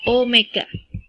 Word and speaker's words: omega: Besaran yang ketiga yaitu kecepatan sudut atau disimbolkan dengan omega, itu bacanya bukan W ya. Jadi bacanya adalah omega.